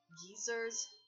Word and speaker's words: geysers: one coin stupid um British people pronounce geysers as gers oh oh I see